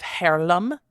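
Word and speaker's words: Haarlem: a spring day 1943 in the city of harlam it's spelled like Harlem but with two A's uh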